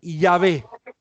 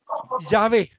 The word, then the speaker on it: Yahvé: O sea que siempre que leas esas 4 consonantes, vos tenés que pronunciar Yahvé. ¿Sí? Yahvé. Bien. No con T final. Yahvé.